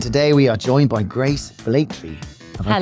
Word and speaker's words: Grace Blakeley: And today we are joined by Grace Blakeley. Have I pronounced that right?